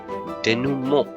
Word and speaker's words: denouement: The vertex is not denouement, it's denouement. You can pronounce it like this, denouement.